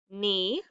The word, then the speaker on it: knee: Itch, wreck, knee, patch, wrap, like I'm going to wrap a